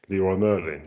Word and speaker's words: Leroy Merlin: DIY supplier which is Leroy Merlin. You can pronounce it in the French way, but um it's Leroy Merlin.